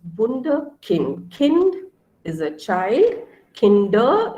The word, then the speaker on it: Wunderkind: So I say Wunder because U in German is pronounced as U, okay? So U is pronounced as U. When we look at the alphabets, we look at the pronunciation. So it's Wunderkind.